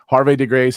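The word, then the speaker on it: Havre de Grace: How would you say that? Because I know you would. Harvey de Grace. How do you say it? That's correct.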